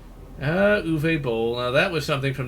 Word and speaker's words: Uwe Boll: It basically is a off-brand Yui Bowl or Uwe Boll film. I like pronouncing it Yui just because it sounds funny to me. But it basically is an off-brand Uwe Boll film, though.